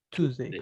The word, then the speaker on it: Tuesday: Esa siempre va con mucha pronunciación de Tuesday, como tú, Tuesday.